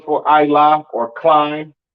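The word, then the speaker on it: עלה: This word is pronounced Ilah in Hebrew. Ilah in Hebrew.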